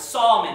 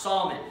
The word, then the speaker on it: Salmon: to, you know, because salmon is kind of an exception, the way that the pronunciation is of that particular word.